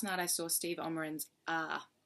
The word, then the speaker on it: Aaaaaaaah!: I saw Steve oman's ah ah is how you say it I thought when I first read it was ah or ah but it's actually like oh like you're grunting like a like an